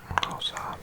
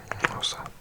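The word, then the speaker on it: Xhosa: Official language is English and 11 others, including one called Rosa, which you have to do a click to say. Spelt X-H-O-S-A. And X-H is a click, so it's like Rosa. But I'm saying it wrong.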